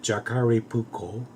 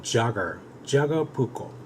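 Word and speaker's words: Jääkäripuukko: as you can see it looks like sound the Jakara pouco but it's not the a very sleek asite in there that they explained that this pronunciation appropriate pronunciation is Jagger Jagger pouco and let me tell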